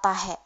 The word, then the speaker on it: tahe: Selanjutnya kata tahe. Tahe pengucapannya biasanya kayak ada tekanan di belakang tuh. Tahe, kayak dibatasin tahe gitu.